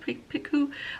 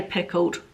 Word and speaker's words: Picoult: Picoult, I think she's pronounced Picoult. I could say pickled, but it's not that.